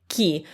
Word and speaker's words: chi: for example the word ki which is who okay ki so that's why the h isn't pronounced the h's purpose in this word is not to be pronounced i mean the h